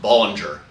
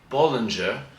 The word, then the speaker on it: Bollinger: jacqu Bing so I I assure you it's not pronounced Ballinger um even though in America that's probably what you're going to hear or if you're going to hear it in England it'll be Binger Binger um but it is Bing uh in France uh